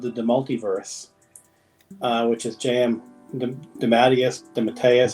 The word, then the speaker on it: DeMatteis: So it's on Kickstarter right now, a project called the Multiverse, which is JM DeMatteis. How do you say it, Ron? DeMatteis.